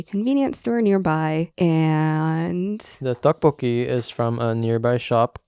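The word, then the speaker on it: 떡볶이: here and we haven't had dinner, we just grabbed some tteokbokki. How's my pronunciation?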